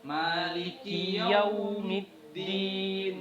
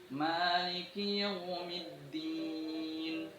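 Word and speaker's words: مالك يوم الدين: Maliki yaumiddin. Maliki yaumiddin. Ya, itu ketika menyebutkan yau itu usahakan lebih seperti dibulatkan itu bibirnya. Maliki yaumiddin.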